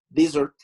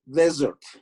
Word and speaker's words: desert: Por eso ahí nosotros decimos desert. Noten cómo a la hora de pronunciar, la S no suena como desert. No dije desert, dije como un zumbidito. Desert.